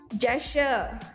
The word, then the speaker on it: gesture: Gesture. Come on. A friendly gesture. Friendly gesture. That is the correct pronunciation. Friendly gesture. The pronunciation is almost the same as torture.